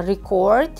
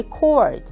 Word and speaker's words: record: For example, record. Re record. Uh record noun with stress on the first syllable and becomes record verb with stress on the second syllable.